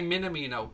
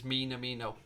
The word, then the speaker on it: Minamino: I used to say Minamino, but somebody pulled me up on it in the comment section and said that the way to pronounce it is Minamino.